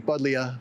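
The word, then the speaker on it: Buddleja: It's you say it like the letter I, Budlia. No matter how whether it has an I or a J in it.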